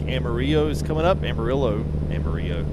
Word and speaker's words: Amarillo: Amarillo is the actual Spanish pronunciation of that. Which I guess actually sounds like yellow. It's not spelled the same though.